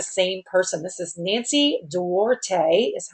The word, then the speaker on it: Duarte: This is Nancy Duarte, is how you say her name, and she is a very skilled lady.